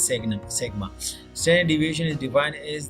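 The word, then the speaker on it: σ: या is mostly widely used measure of the dispersion of a series, commonly denoted by symbol sigma, pronounced as sigma.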